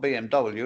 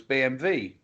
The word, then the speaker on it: BMW: goes another BMV what because Germans Pronounce W as a v kept telling me I